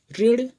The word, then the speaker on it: ऋण: उच्चारण करके देख लीजिए, ऋण, ऋचा, ऋषभ और ऋषिकेश, सभी में छोटी ई के जैसा ही आवाज है।